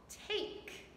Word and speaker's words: take: Two vowels, so the first one is long. Take, take. Hear the difference? Tack, take. A-A-A, long A. So we mark this one with our long vowel sound. And this one is silent.